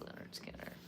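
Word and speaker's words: Lynyrd Skynyrd: Leonard Skinner, pronounced Leonard Skinner, right?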